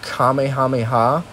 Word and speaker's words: Kamehameha: than likely a mythic kamehameha which i a lot of people again they say it wrong on youtube so i'm saying it right but a kamehameha is